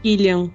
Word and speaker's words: Cillian: Eu nunca sei como pronunciar exatamente o nome dele, porque é Cillian, porque ele é irlandês, né? Nome irlandês é sempre mais complicado, né? Então é Cillian Murphy. Isso, Cillian Murphy, é isso mesmo.